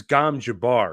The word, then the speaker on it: Gom Jabbar: yeah, it was Gom Jabbar, right?